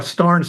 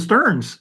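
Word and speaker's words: Stearns: was corrected by a Stars family member so I called him shuel Sterns you know and she said you know Pastor Phil we pronounce our name star and she said really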